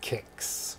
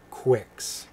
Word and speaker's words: Kix: If you look it up, it is pronounced Kix. Kix, like K-I-X or K-I-C-K-S. Like as in shoes, your Kix. Yeah, but I bet a lot of people pronounced it Quix.